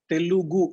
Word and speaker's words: Telugu: l u g u there's no n in that so that part we